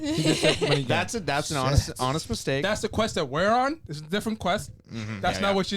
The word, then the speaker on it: Money Gang: Money Game. So that's. Oh, I said it wrong. You say Money Gang? I did. Money Gang.